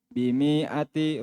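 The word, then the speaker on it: بمائة: Sa'atuhu bimi'ati Ini pendek. Bimi'ati. Ini tulisannya memang begini ya. Tulisannya. Ada alif. Saya bacanya mi.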